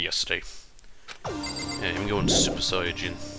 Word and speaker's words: Saiyan: yeah i'm going super saiyan this is how saiyan is pronounced in japanese i think it was